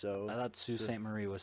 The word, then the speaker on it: Sault Ste. Marie: I know, but I think it's pronounced like so. I thought Sault Ste. Marie was spelled like SI, something different.